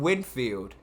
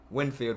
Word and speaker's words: Winfield: of a slide and then we have antoine whitfield winfield whitfield winfield yeah antoine winfield jr i thought i always get his name wrong the guy from the buccaneers who came